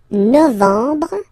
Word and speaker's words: novembre: Novembre, novembre, novembre. Okay, E-M en novembre, novembre.